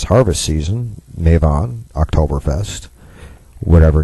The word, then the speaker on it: Mabon: And of course, if you're of a European-based pagan faith, this is currently the Mavan Festival, or Maven, or Mabon. People like to mispronounce it, put the B in there. Mabon.